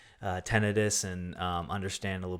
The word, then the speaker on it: tinnitus: i i have to knit tonight uh it's pronounced uh she corrected me it was i said tinnitus she says tinnitus interesting yeah i definitely don't say that she